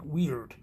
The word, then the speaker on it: Wyrd: It's actually pronounced more like weird. It's really pronounced like the word we use, like as in, freaky, weird, So the three weird